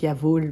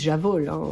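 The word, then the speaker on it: Jawoll: prononce y vol le jeu de mot donc Yav pour dire bien sûr et y vol avec vol pour la laine ça veut dire laine en allemand donc donc maintenant vous savez comment se prononce cette laine c'est très subtil mais bon après j'ai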